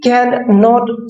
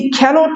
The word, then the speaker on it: cannot: अगर आप इस सेंटेंस को ऐसे बोलेंगे, सी कैन नॉट स्विम, तो गलत होगा। यहाँ पे कैन और नॉट को एक ही साथ में हमने लिखा है, तो प्रोनाउंस भी एक ही साथ में करना है, सी कैनॉट स्विम, ये सही है।